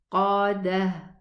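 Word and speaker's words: المؤصدة: And the ha, the ta, when I stop, it's going to be a ha sukoon. Dah. If I connect, al-muqadatu, al-muqadatu allati. So when I connect, I'm going to pronounce it a ta. And this is what's special about writing the ta like this. If I write it like this, then when I stop on it, I stop with a ha. And if I connect with a ta.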